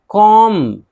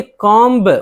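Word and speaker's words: comb: जैसे मिसाल देखिए कॉम अब ये कॉम्ब बा नहीं है। ब यहां साइलेंट है।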